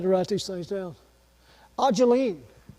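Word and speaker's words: Ayleen: Ajeline, spelled A-Y-L-E-E-N, Eileen, but it's pronounced Ajeline.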